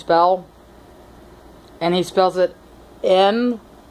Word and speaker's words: Noel: And he spells it N-O-E-L. He spells his name N-O-E-L, but it's pronounced Noel.